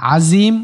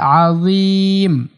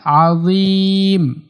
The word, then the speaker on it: আজিম: আজিম বলা যাবে না আজিম ভুল উচ্চারণ আজিম টা পাতলা করে এভাবে বলতে হবে রব্বিয়াল আজিম রব্বিয়াল আজিম এতটুকুই রুকুতে গিয়ে এই